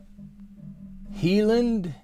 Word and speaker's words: Highland: cow four years ago okay it's pronounced heland cow I'll totally take your